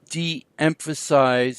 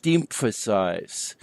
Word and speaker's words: deëmphasize: second "o" to indicate that both o's are pronounced: Coöperation, not coop-oration. Or deëmphasize instead of deem-phasize.